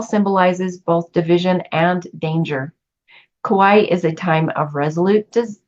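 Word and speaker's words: Kuai: trigrams the iching names this hexagram Kawai I believe that's how it's said it's KU AI I'm going to say it's Kawai and the description here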